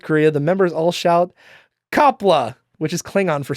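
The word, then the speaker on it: Qapla': It's It's pronounced like It's not exactly pronounced like that, but it it sounds a lot like the way it's pronounced. It sounds like kla.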